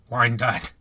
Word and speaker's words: Wyandotte: Well, we did this interview after his show in Wyandotte.